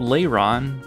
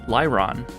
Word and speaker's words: Lairon: This one's called Lairon, but I always called it Lairon.